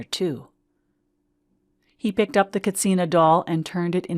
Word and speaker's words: katsina: Kachina doll mama explained katsina pavati corrected her it seems there is no cha sound in the Hopi language and tourists have been mispronouncing it as Kachina for decades are you a runner